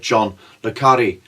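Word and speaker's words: John le Carré: It's like that John le Carre, is how you pronounce that, the spy writer, when he said Philby was not an intellectual dreamer or Marxist or whatever.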